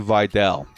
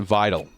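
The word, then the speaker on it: Vidal: Kamani Videl or as I used to pronounce it, Vital, right? This segment called the run game is vital. No, it's Videl, right?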